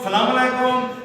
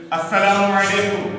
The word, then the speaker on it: السلام علیکم: بعض لوگ سلام ہی غلط, سلام علیکم, سلام علیکم, سلام علیکم, استغفر اللہ, یہ بالکل غلط جملے ہیں. درست تلفظ کے ساتھ سلام کرنا چاہیے. السلام علیکم, السلام علیکم, السلام علیکم,